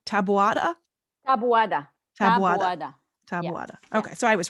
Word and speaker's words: Taboada: you got some badass arms lady okay now pronounce me your last name tabata okay so i was right yeah all right